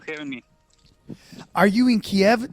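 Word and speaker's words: Kyiv: thank you for having me are you in kiev right now oh yes i'm just in downtown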